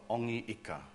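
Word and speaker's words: Hongi Hika: condoned the use of Ongi Ika, so that the H wasn't pronounced very, very well, yeah, maybe at all.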